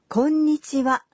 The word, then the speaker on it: こんにちは: Okay, you'd say こんにちは, clapping to the rhythm of 3 beats.